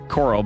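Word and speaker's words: Koral: It's like Coral, but spelled differently, K-O-R-A-L.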